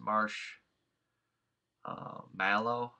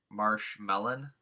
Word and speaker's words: marshmallow: yes um I pronounce it Marsh uh mellow like uh Mellow Yellow um but I do believe yes indeed that it's pronounced Marsh uh mow like uh mow Mars